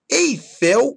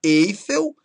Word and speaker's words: Eiffel: Condor e não condor, cister, Nobel e não Nobel, Gibraltar, Eiffel e não Eiffel, Hangar e Timor. Repare, então, que a sílaba tônica tem que ser a última.